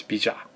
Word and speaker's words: Bijan: Often mispronounced, but it's Bijan. It means someone's name. It's French.